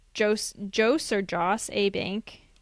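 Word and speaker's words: Jos. A. Bank: Oh yeah, so other businesses actually according to their reviews like Jo's Jo's A Jo's A Bank. How do you say that? It's Joseph A Bank as my father says.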